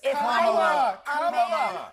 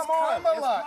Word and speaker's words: Kamala: Let me actually pronounce her name right. Kamala Harris. Kamala. You said this. We don't call you Nancy. It's Kamala.